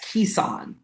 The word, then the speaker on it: Keicon: Is it pronounced Kaikon or am I wrong in that? You are wrong in that. It's pronounced Ean. Ean. Yes. Kissan.